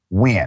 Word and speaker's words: Nguyen: It is spelled Nguyen, but pronounced Nguyen. I had a great conversation with Miss Nguyen just a couple of days ago.